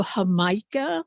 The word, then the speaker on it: jamaica: the hibiscus blossoms and called in mexico hamaika like in jamaica spelled like jamaica i have some here